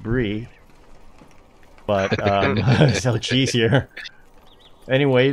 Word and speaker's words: Bree: We are here in Brie, pronounced Brie.